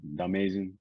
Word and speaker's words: Domayzin: Domayzin. I heard Domayzin. people say it like a bunch of different ways, but yeah, you got it right.